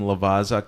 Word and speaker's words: Lavazza: Yeah, Lavazza.